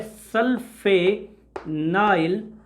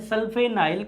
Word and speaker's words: sulfanyl: अब इसका प्रीफिक्स जो होता है ये थोड़ा सा डिफरेंट होता है, सल्फेनाइल कार्बोनेट नाइल, ध्यान से सुनना, मैंने स्पेलिंग को प्यार से लिखा है SULFANYL, सल्फेनाइल।